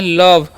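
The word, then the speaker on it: love: यानी कि धन्यवाद क्लियर एल ओवी ई है तो इसे हम पढ़ते हैं लव लोभ नहीं पढ़ना ठीक है ओ कान यहां पर अ होता है लव मतलब होता है प्यार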